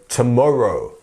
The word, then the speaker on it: tomorrow: word to pronounce because we say the T as a throwaway sound a tomorrow we're not